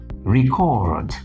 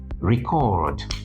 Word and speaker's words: record: As a verb, this is called record. Record, not record.